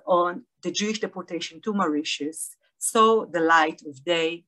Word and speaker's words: Mauritius: We say it in Hebrew, Mauritius, as it is pronounced also in German.